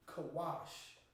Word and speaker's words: Cush: Now we're doing Cush, which is pronounced in the Hebrew, Kawash. Kawash.